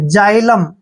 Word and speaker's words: xylem: आता है तो भी हमने x को जय पढ़ना है, तो x का उच्चारण हम यहाँ पर जय करेंगे देखिए, और y को हम यहाँ पे आई पढ़ेंगे ऐसे आई, और L E का उच्चारण ले करेंगे, M को मैं पढ़ेंगे। जाइलम, क्या पढ़ेंगे इसको? जाइलम।